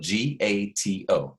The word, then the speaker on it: gato: It's spelled Gato, but you say gato.